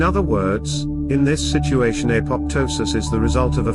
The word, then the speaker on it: apoptosis: Apoptosis, usually pronounced apoptosis, is a biological concept used to describe the self-triggered death of cells in various situations.